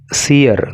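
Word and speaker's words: seer: क्या क्या आया है, ये वर्ड जो आया है सीयर, देखो इसका जो प्रोनाउंसिएशन है ना, सीयर भी होता है, इसका प्रोनाउंसिएशन सीर भी होता है। अब जो भी आपको ठीक लगे आप कुछ भी इसको बोल सकते हो।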